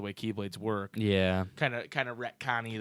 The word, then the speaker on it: Keyblade: pronounced Keyblade, sir.